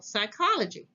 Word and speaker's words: psychology: IC is pronounced chronic PS sounds like s for example psychology psy CH o l